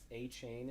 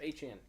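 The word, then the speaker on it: Achane: And is it A-Chain is how you say his name? A-Chan. A-Chan. I thought it was A-Chain. Nah, he came out and said it's A-Chan.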